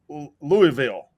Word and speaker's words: Louisville: Quick first of all it's climon and it's Louisville it's Louisville Louisville sorry BR also it Brandon